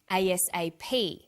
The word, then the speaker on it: ASAP: is pronounced separately but the last letter is pronounced more strongly because it carries the primary stress so we say us a ASAP ABC and TV listen